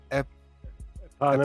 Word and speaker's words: eponymous: Eponymous. Eponymous novel about a woman stranded in an Irish